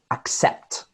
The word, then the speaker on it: accept: and false and rhythms for example the word accept accept accept that little apostrophe here is where the stress of the syllable goes to accept so the first one